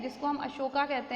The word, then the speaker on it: अशोक: तो अगर आपको याद हो और आपने मूवी भी देखी होगी, तो अशोक वॉज दैट एम्परर, ठीक है, जिसको हम अशोका कहते हैं। हालांकि अशोका नहीं था बेचारा, वो अशोक ही था, बट वो इंग्लिश का प्रोनाउंसिएशन होता है अशोक।